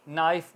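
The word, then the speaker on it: knife: उसे होती है तो इसमें के साइलेंट बाकी नाइफ बोला जा रहा है एन आई एफ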